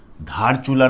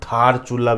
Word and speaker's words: धारचूला: ये जो सड़क जोड़ेगी धारचूला नामक एक स्थान है। इसको थारचूला भी बोल देते हैं। न्यूज़पेपर में, एक न्यूज़पेपर में थारचूला भी लिखा हुआ था, तो इस पर ध्यान देने की जरूरत नहीं। ये प्रोनाउंसिएशन होता है।